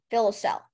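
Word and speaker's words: filoselle: kids would take it home fill a cell fill a cell am I pronouncing that right it sounds about right okay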